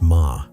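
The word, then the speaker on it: 間: The Japanese concept of ma, pronounced ma, translates roughly to negative space or pause.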